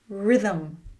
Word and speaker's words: rhythm: Rhythm.